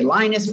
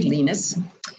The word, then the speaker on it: Linus: Then came Linus. Some people say Linus, but it's really Linus. And Linux rhymes with Linux, so it's a little bit different.